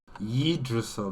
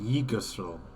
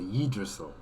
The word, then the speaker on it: Yggdrasil: Yggdrasil, not Yggdrasil. Yeah, that's my mistake. I pronounced it wrong. Okay, Yggdrasil.